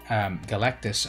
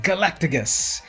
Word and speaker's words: Galactus: Now, fun fact, growing up, I always called Galactus, I always mispronounced his name, and I called him Galacticus. I don't know why I put that extra G in there, but that's what I called him for a long time, Galacticus.